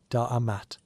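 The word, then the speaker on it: D'mt: The story begins with a kingdom whose name sounds like someone clearing their throat very dramatically. Dant pronounced Damat which ruled the northern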